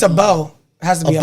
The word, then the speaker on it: Abel: Able? I don't think Able? it's Able? Like being able to? No, it's No, EL. A-B-E. It's a bell.